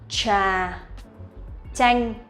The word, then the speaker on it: trà chanh: Trà chanh. So it's like ch for TR and ch for TH. This is how we pronounce these two sounds correctly, but in spoken